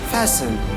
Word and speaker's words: fasten: The letter T is not pronounced in the following common English word. See, we're talking about the letters T, the silent word exactly where is the word and which we have not pronounced the letter T.